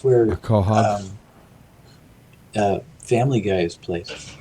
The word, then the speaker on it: quahog: I'm going to pronounce it and then spell it. I pronounce it quahog, and it can be